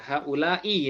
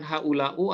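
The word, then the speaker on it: هؤلاءِ: Nah, haula'i ya. Jadi bacanya selalu i, bukan haula'u ataupun haula'a.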